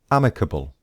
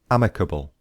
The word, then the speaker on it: amicable: The second word is amicable. Amicable. This word is an adjective. And here is the pronunciation. So there are four syllables. Amicable. Amicable. Amicable.